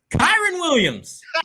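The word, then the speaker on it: Kyren Williams: How do you pronounce the name? Kyron Williams.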